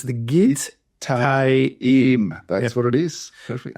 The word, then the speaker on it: Gittaim: Because of the syllable, you got to, it's not the normal AI sound as in raise. Yeah, and in English, you would just probably naturally read that as Gittaim.